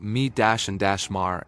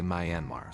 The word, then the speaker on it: Myanmar: By the way, Americans say it like me-and-mar, and Europeans say Myanmar, so depending on where you're from, sorry about that.